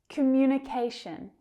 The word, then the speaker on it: communication: Communication. Communication. We have a primary and a secondary stress here.